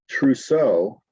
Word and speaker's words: trousseau: Trousseau, that is gifts given to the bride for their household.